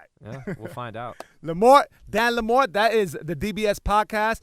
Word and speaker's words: Lamorte: Yo, I'm glad I asked the correct pronunciation of Dan's last name because I was all day long. I was like, oh, I got Dan Lamorte. But it's Dan Lamorte.